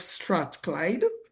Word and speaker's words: Strathclyde: As a result of this, she has embraced roles such as working with the University of Strathclyde. I believe I pronounced that Yes, correct.